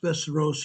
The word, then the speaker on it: Västerås: It's pronounced Västerås here.